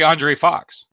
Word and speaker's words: Andres: I say Andre Fox. It's spelled Andres. Yes, I know. But a lot of times I've seen Andre before where they have an S and then you don't say it.